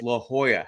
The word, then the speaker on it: La Jolla: People will say it's spelled Lajolla, and everyone they say La Jolla.